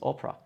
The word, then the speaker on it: opera: opera opera it means opera opera this o is open it's opera so we go back to